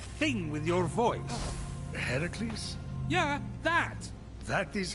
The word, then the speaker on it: Heracles: doing there that thing with your voice the heracles yeah that that is how it's supposed to be pronounced seems like a lot of work but